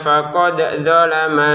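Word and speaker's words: فَقَدْ ظَلَمَ: Untuk dalnya kita pantulkan, jangan sampai tergelincir kepada dzot ya, atau memasukkan dalnya ke dzot, gak boleh ya. Faqad dzalama, karena ini agak sama memang ya pengucapannya ya. Zo sama da itu kan sama-sama lidah ya, zo. Nah, lidah. Khawatir nanti dimasukkan faqad dzalama. Jangan, dipantulkan dulu huruf dalnya, faqad dzalama.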